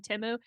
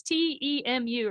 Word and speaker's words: Temu: how they got something off of Timu. It's Temu, right? Yeah.